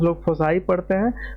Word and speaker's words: foci: लेकिन जब हम फोकस का बहुवचन लेते हैं, तो इसका उच्चारण 'फोसी' होता है। कुछ लोग इसे 'फोकी ' पढ़ते हैं, कुछ 'फोसी'। लेकिन आपको इसे 'फोसी' पढ़ना चाहिए। मैंने इसे ऑक्सफोर्ड डिक्शनरी में देखा। तो इसका उच्चारण 'फोसी' जैसा था।